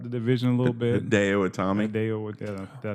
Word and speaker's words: Hideo Itami: Well, they brought Hideki Utami over there. Yeah. Trying to spice it up the division a little bit. Hideo Itami.